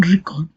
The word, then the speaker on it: record: In the noun record, the dress falls on the first syllable re.